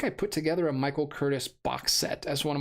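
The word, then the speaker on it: Curtiz: you thank you Ethan he was Hungarian it's pronounced Curtis thank you uh always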